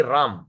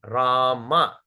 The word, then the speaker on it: Rama: Hare Krishna, Krishna, Hare Krishna, Hare Krishna, Krishna Krishna, Hare Hare, Hare Rama, Hare Rama, Rama, not Ramo, not Ramo or not Ram. Don't say Ram, Rama.